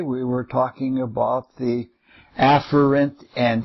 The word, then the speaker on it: afferent: pronounce the words for you and the the afferent is the proper pronunciation epher has two pronunciations but in both